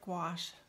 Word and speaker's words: gouache: they're an opaque gouache it's actually an acrylic gouache if you want to say it correctly it's not a watercolor